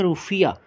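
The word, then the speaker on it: rufiyaa: तो माँ से मॉरिशस, माँ से मालदीव्स, और मालदीव्स की करेंसी रुपया है, लेकिन थोड़ी सी उसकी प्रोनाउंसिएशन चेंज है, वो है रुफिया।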